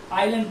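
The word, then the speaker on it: island: बाद एल आ जाए, तो उस स्थिति में एस आपका साइलेंट हो जाता है। एस क्या हो जाता है? आपका साइलेंट हो जाता है। तो हम क्या पढ़ रहे हैं? इसको आइलैंड पढ़ रहे हैं।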